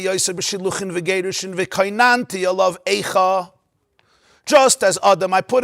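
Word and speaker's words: איכה: We pronounce it Ayeka, but when you look in the Sefer Torah, just Aleph, Yud, Chaf, Hey.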